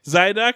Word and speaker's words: Zyduk: Zyduk. Zyduk. Spelled like Zooey Duck. I just say side hook.